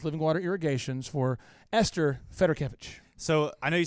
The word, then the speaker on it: Fedorkevich: paren see agent of your last matter Kevin Federer Kevin yep okay so what is your final question here Josh with living water irrigations for Esther Federer Kevin so I know you say you don't get